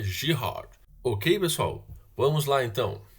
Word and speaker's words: Girard: relações de girard é como o cara é francesa então a pronúncia correta é giro ok pessoal vamos lá